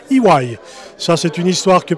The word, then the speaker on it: EY: qui est nnc et qui maintenant se prononce IW ça c'est une histoire